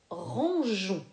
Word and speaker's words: rangeons: pigeons c'est le mot rangeons rangeons tu bois on ne prononce pas le hub il est là simplement pour que le g chante bien jeu et pag nous rangeons